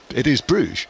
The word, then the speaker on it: Bruges: To which I said, well, in the anglicised form, it is Bruges.